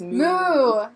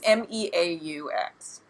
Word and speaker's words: Meaux: She wants to say it's Moo, because it's a moo cow cheese. It's Meaux.